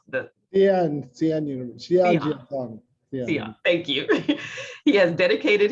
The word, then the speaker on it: Xi'an: How do you pronounce the? Xi'an University. Xi'an, thank you.